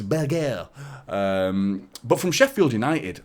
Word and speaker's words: Berge: him by the way the way Burnley announced him struggling to pronounce Burger it's Burger um but from Sheffield